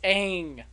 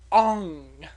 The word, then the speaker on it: Aang: It is Aang, not Ong.